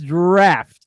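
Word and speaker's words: draught: d r o u g HT that is draft this is spelled at d a u ght yeah there's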